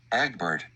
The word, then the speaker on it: Egbert: This is how you pronounce the dad's name. Listen. Egbert.